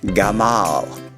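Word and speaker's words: גמל: word for camel and the entire word is pronounced gamma let's review everything covered to this point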